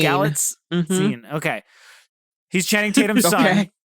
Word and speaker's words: Galitzine: Galitzine.